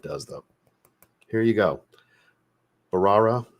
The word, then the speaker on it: Bharara: though here you go barara I believe is how you say it the proper way s Ence caramel dominant